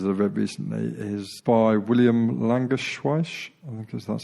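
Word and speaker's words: Langewiesche: the best pieces of recently is by William languish wash because that's how you pronounce his name he's a former airline pilot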